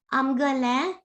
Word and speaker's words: आमगेलें: And see the nasal sound here. Amgale. And also in kavitas. आमगेलें. Correct. The nasal sound at the end is the reason we put the apostrophe N.